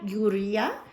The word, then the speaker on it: Urrea: And so we would like to say congratulations to Gloria Uria. I hope I pronounced your last name correctly. It's Urrea.